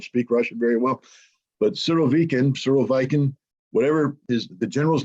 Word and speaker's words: Surovikin: And I've been told that I pronounce his name incorrectly every time I say it. I think I'm supposed to say the following, Surovikin.